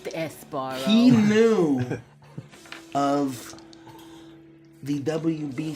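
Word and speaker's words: Sbarro: knew of Theo knew of the sabaro it's pronounced esaro he knew of the WB store and the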